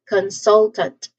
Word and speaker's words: consultant: So you emphasize in the second syllable again. So you say this as consultant.